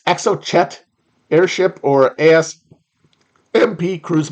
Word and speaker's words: Exocet: EXO shot is it I've never seen this pronounced I've already I've read it in a bunch of Tom Clancy books it's EXO Chet Airship or as MP